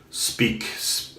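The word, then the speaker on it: Speick: in Germany it's called speaks I think it's pronounced speak SPE I see K for men it's a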